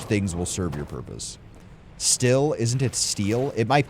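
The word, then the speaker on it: Stihl: It's pronounced steel.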